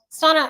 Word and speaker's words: Sona: you in here uh son rhymes with Donna are you sure the ones who leave negative comments after live aren't o trolls Sona I don't know um